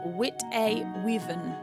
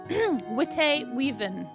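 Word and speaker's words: Witte Wieven: And this is by the lovely Jaxel, who is with us today, who has said that the white weaven is pronounced Wit-a-weaven. Wit-a-weaven.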